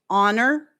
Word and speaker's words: honor: Most people pronounce honest, air, as in HEIR, uh, honor, hour. These all start with H's that are silent.